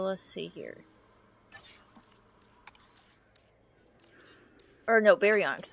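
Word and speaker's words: Baryonyx: Or no, Berionics, not Sucos. Baryionx.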